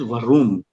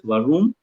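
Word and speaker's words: warum: this next one is varum make sure friends you don't pronounce this as varun give some extra emphasis on yeah like a kind of a grumbling sound yeah in one w-a-n-n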